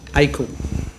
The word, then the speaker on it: Akle: And how is that surname pronounced? Akle.